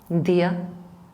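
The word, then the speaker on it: día: That's the difference with the t and d in English, where day it's not dental, it is actually alveodental. If you pronounce it, you would notice the tip of your tongue going against your alveolar ridge. Day. If you pronounce it in Spanish, dia, it goes against the teeth.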